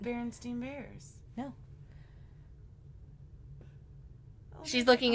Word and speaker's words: Berenstain: But Berenstain, it's not how well, it's still pronounced Steen either way.